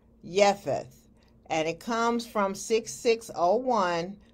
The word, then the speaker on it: Japheth: Now the word Japheth is 3315 in Strong's Concordance and is pronounced Japheth.